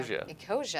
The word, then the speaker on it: Ecosia: Ecosia, I pronounced it correctly.